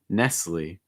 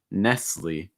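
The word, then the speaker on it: Nestlé: l'oreal l'oreal nestle so and american english is going to end with that long i sound that e nestle nestle the t is silent nestle after that we have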